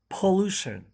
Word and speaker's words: pollution: let's say it again pollution pollution so the stress is on the loo okay pollution let's use